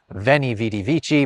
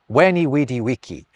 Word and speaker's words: veni vidi vici: This famous phrase, I came, I saw, I conquered, is not veni vidi vici, but veni vidi vici. Exactly as if the V's are U's, because they were.